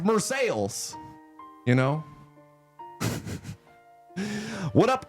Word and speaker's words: Marseilles: It's spelled the same way, but everyone's like, yeah, it's Marseilles, you know?